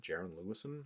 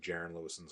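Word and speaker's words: Jaren Lewison: So for this character, I thought Jiren Le uh Lewis Jiren Lewis I think is how you pronounce his name.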